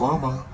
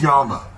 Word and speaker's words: llama: Thinks it's pronounced llama, but that's not true. It's pronounced yama.